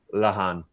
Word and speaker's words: Lehane: correctly so it's lahan or uh i know sometimes my my first name is quite uh eastern european or central asian uh or origins but my surname is irish because i am originally